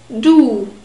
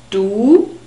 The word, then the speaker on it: du: members of your family do we have a long o sound it's a very close sound ooh and the inner surfaces of your lips are exposed do and we also have the double point in the script so this is a long vowel do and the german word